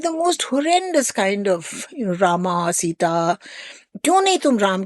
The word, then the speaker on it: राम: हाँ, तो एक बार मेरी माँ ने किसी से कहा था, it's not Rama and Lakshmana, the last A is silent, it's Ram, Lakshman.